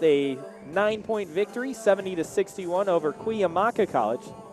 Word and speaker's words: Cuyamaca: San Diego Mesa with a 9-point victory, 70-61 over Cuyamaca College. Pronounced that correctly according to what we learned at the Don Johnson Classic 4 years ago. Cuyamaca is the correct way to pronounce that. Not Cuyamacas.